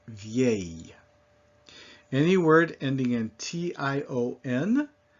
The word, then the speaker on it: vieille: And so if we just sound this out phonetically, it's V-A, vieille. So you still got that Y sound on the very end, vieille.